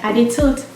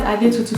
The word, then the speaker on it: Adetutu: You hear them say things like Adetot, that's Adetutu for you.